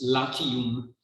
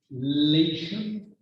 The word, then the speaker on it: Latium: a whole, but of Latium. That's how we pronounce Latium in English. Latium, Latium, that is the region in which, of course, in the future, Rome would be founded.